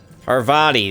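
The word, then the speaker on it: Parvati: engaged in the heated discussion in the kitchen arvadi that's how you say her name i don't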